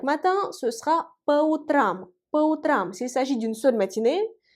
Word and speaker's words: по утрам: Faites attention au changement de la place de l'accent tonique. On dit утром, l'accent tonique frappe la première. Voyez le ou, alors que по утрам, l'accent tonique frappe la dernière. Voyez le a.